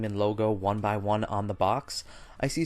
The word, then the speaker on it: 1byone: gonna be made by the company one by one and that is spelled number one and then B Y o and E so I'll put links